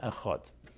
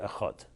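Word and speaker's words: אחד: you say a Shem a hot and the emphasis is on the last word a hot one now what I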